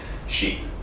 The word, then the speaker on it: sheep: That word should be pronounced as sheep.